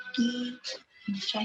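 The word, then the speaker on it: 一: It is pronounced as E.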